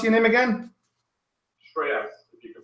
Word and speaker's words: Shreyas: Shreyas, if you can pronounce it. Or probably Shrey be easier. Oh, how do you spell that? S? S-H-R-E-Y-A-S. Oh, Shreys.